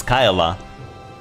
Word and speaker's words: Kyla: to pronounce her name apparently it's not Kayla it's Kyla so uh apparently